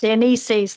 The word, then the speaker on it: Dionysius: I can never pronounce it. Dionysius.